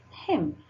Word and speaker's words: hymn: N is not pronounced here. Hymn, right?